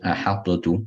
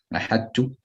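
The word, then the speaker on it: أحطت: No, is it ahadtu? That's ilhar. Ahadtu, ilhar, incorrect. Ahadtu, complete idgham, incorrect. Ahadtu, idgham naqis. And incomplete idgham, you leave the sifa of the ta. That's the correct pronunciation.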